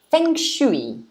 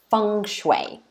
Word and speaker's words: feng shui: So you can say feng shui, which is the first pronunciation, or feng shui.